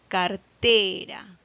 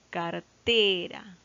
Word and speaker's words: cartera: Cartera. Cartera. La sílaba tónica recae en la última, en la penúltima sílaba, en T.